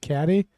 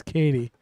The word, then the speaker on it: Cady: any new Champion Josh Katie yeah Josh Katie am I say pronouncing that right you did I actually pronounced it wrong when I said caddy but it is Katie but yeah so I'm